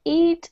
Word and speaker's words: Eid: Eid? Is that how you say it? Eid?